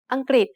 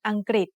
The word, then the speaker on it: อังกฤษ: อังกฤษ has two syllables. The first syllable has the initial silent consonant ออ่าง the vowel สระอะ written with ไม้หันอากาศ and the final consonant งองู The second syllable has the initial consonant กอไก่ the vowel รึ pronounced as ริ Together they